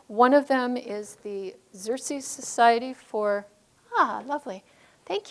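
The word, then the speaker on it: Xerces: and local initiatives one of them is the xerxes society for ah lovely thank you you can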